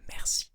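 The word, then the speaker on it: merci: So to say thank you in French, we say mercy. Mercy, mercy, mercy, mercy, mercy, mercy, mercy. If it can help you, you can think of the word mercy in English and it's actually pronounced the same.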